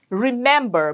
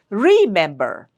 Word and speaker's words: remember: This also is an exception. It's remember. We don't say remember. So the middle uh syllable is stressed.